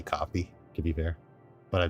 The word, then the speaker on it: Ko-fi: the low Ko-Fi shop, or coffee, however you pronounce it. I say Ko-Fi, but I know I'm wrong. But I just can't say coffee when it's spelled like that. If they didn't have the hyphen, I'd probably say coffee, to be fair.